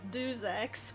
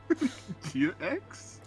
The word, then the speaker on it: Deus Ex: I say like Deus Ex or something. That's close enough. He's like, it's not do, it's not two in French, okay? And I'm like, Oh yeah, because you're from Charles. Deus Ex?